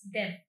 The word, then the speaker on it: deaf: It's not deaf, it's deaf.